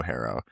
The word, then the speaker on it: HARO: Well, it's because HARO as a brand, like, if you're in public relations, if you're in journalism, you know HARO, and you might pronounce it Haro or Haro, but I think that